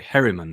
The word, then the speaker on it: Herriman: That's Damon Herron's girlfriend. Yeah, so and that's Damon Herriman. Sorry, Herriman. Yeah, that's how you pronounce it.